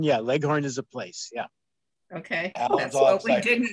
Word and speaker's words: Leghorn: yeah it's yeah okay leghorn yeah like like horn yeah leghorn is a place yeah